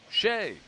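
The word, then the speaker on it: Skjei: It will be on Shea. Shea, a very unique spelling of that name. S-K-J-E-I, but it's pronounced Shea.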